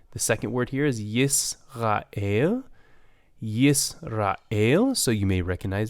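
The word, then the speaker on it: ישראל: In the second word, I did not pronounce it, Yisrael.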